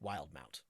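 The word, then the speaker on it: Wildemount: Mount and I think it's just got an extra e because Matt MCA thought it looked cool so just because just because the way that English works it wouldn't be pronounced that way we we'll say it wild Mount wild Mount uh and uh Rob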